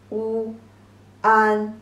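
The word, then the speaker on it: 万: Pronunciation is wu an, the fourth tone, wu an, one, means 10,000.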